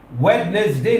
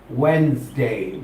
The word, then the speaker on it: Wednesday: याद रखनी होगी कि डी जो है साइलेंट हो जाता है। वेडनेसडे नहीं बोला जाता, हम कहेंगे वेडनेसडे, बगैर डी के कहेंगे तो आपका सही प्रोनाउंसिएशन बन जाता है वेडनेसडे, वेडनेसडे, वेडनेसडे।